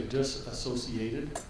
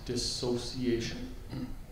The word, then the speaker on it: dissociation: and some people say disassociated which is actually not a correct word uh it's a common mispronunciation so it's dissociation and the second meaning